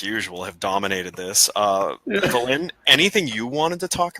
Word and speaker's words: Valyn: Here's how you pronounce my name, Ed. It's Valyn, like Valentine. Valyn.